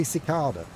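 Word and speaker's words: cicada: Ask him to say cicarda. That's how it's pronounced. Cicarda. Cicardas. Not kicadas or whatever the ball sack you pronounce them as.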